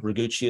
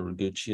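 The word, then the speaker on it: Roguchi: have been a question about a Columbine hugee raguchi is the cult of our name on that so raguchi is the cultivate so I just uh uh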